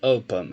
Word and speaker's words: open: A sílaba tônica aqui é a primeira.